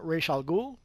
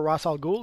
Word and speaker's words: Ra's al Ghul: basically we got our mail from our friend rachel ghoul or Ra's al Ghul depending how you want to pronounce it so you can see result will